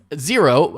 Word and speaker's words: Xero: and what is xero so zero pronounced zero is spelled x-e-r-o zero is an accounting